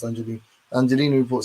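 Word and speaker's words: Angiolini: The Angelini report, I think it's pronounced Angelini.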